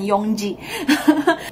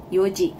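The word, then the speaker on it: 四時: N-nya hilang ya. Udah mulai bingung kan? Jadi, peraturannya kayak gitu, guys. Pola kalimatnya memang seperti itu. Jangan tanya sama gue kenapa kok menyebutkan jam jadi yoji, bukan yongji.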